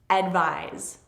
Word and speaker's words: advise: Both of these words have the stress on the second syllable, but this one is advise and this one is advice. To advise is to give advice. It's the verb and advice is the noun.